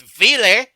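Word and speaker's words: Wille: They're now with Vile. Gotta get the weird German pronunciation that they use in there.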